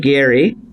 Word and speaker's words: Gerry: founding fathers Oh bridge Gary and that's how his family pronounces the last name apparently although he was a